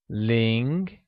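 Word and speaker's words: 零: grammar tip for you ling pronounced in a mid-rising tone has a lot of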